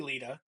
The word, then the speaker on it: Lita: It's clearly Lita.